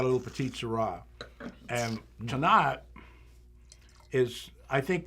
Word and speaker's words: Tannat: And Tannat is, I think the best way to describe Tannat is the last syllable of the word, not.